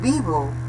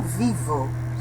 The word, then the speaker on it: vivo: Então, argentino, depois o V de Vitor se pronuncia igual que V de bola, ok? Vivo, e não vivo, certo?